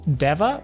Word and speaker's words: Deva: We also got to see the A tier skin for Patient is called Deva or Diva. I think it's Deva because it's not a diva.